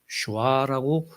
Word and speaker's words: 여호슈아: 여호슈아라고 정확하게 읽어야 돼요. 히브리어로 발음한다면 여호슈아. 근데 이게 신약교회에서 단축해서 표현한 거예요.